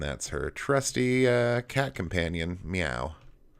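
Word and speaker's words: Myau: And that's her trusty cat companion, Meow. But not spelt the way we spell it, M-Y-A-U.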